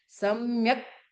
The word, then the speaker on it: सम्यक्: सम्यक् प्रणम्य, क आधा है तो क्या बोलना, सम्यक नहीं बोलना, सम्यक प्रणम्य। एक बोलते क, एक बोलते क। तो आपको क में अ नहीं है तो क, ऐसे थोड़ा